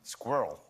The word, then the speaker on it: squirrel: no come on um squirrel that's right yeah what one syllable squirrel squirrel right